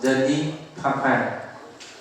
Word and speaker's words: Denis Papin: I pronounce it in French. We pronounce Denis Papin. French is a little bit weird in the pronunciation.